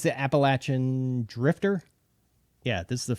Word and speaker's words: Appalachian: And I'm going to say it right, the Appalachian. That feels weird saying it that way. I know that's the way you're supposed to, but it's the Appalachian Drifter.